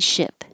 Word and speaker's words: ship: vowel is it so it's the difference between eat and it this is sheep and ship sheep ship eat it